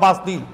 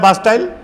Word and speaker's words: Bastille: बास्टील का फोर्ट्रेस था, fortress prison of बास्टील. English में इसका प्रोनाउंसिएशन होता है बास्टाइल, हिंदी में इसको बास्टील का दुर्ग कहा जाता है.